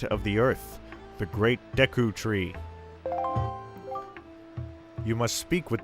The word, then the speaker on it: Deku: forth with caution link another mispronunciation I had as a kid I always called it the Deku Tree I don't know if anyone else did that but it seems widely accepted that it's Deku especially given Japanese vowel pronunciation well we have made